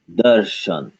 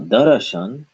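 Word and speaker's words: दर्शन: So this would be pronounced darshan, darshan. Not darashan, but darshan, because we got rid of the a.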